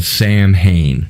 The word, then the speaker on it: Samhain: Samhain, which looks like it's spelled Sam Hain, but it's pronounced Samhain.